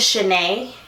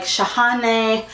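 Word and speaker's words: Shahnae: My middle name is Chenet. Like just Chenet. A lot of people see the way it's spelled and they're like shahane shahana. And I'm just like it's just chenet.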